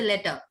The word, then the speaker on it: letter: you speak, you say letter, right? I've heard something that on a few Yeah. videos. It is. It's like American pronunciation. They make it as into a soft D.